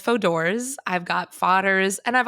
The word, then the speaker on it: Fodor's: I get all different pronunciations. So, it's Foders. Um, my mom says Fodors.